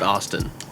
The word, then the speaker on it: Austin: It's pronounced Austin. Austin. Say it with me now.